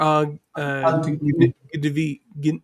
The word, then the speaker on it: אל תגנבי: All technology or Al tignevi.